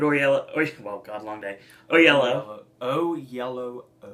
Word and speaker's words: Oyelowo: It is 2 O's with yellow. The in way middle. you say it, you say it so fast that the O is silent. There are 2 O's in there. Oyelowo.